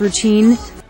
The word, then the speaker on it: routine: routine 할 때는 t를 길게 끌어주라고 했죠. 강하고 길게. The song and its dance routine.